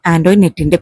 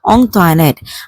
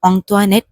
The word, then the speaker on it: Antoinette: കുഞ്ഞിച്ചിരുതയുടെ പേര് പറയാൻ പറ്റാത്തതുപോലെ തന്നെ ആന്റോയിനെറ്റിന്റെ പേരും കുഞ്ഞിച്ചിരുതയുടെ ക്ലാസ്മേറ്റ്സിനും ടീച്ചേഴ്സിനൊന്നും പറയാൻ ബുദ്ധിമുട്ടുള്ളതായിട്ട് കുഞ്ഞിച്ചിരുതക്ക് മനസ്സിലായി. Most of them pronounced it ആസ് ആൻ ആന്റോയിനെറ്റ്.